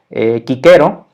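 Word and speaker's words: Cicero: que con la fonética latina tal cual sería kicker o a pues también es válido esta excepción desde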